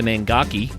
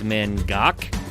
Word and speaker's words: Mangoky: People say the Mangaki cuz that's the way it's spelled, but the locals have corrected us. It's Mangok. That's what I learned from this among other things.